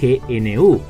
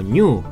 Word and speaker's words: GNU: a destacar es que gnu no necesariamente se pronuncia gnu sino como New al menos en inglés básicamente se pronuncia igual que New Linux pero no necesariamente